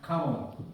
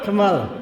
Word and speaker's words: Kamala: David Rob and Kamala rhymes. It rhymes with koala. That's right. Kamal. Kamala. Koala. Kamala.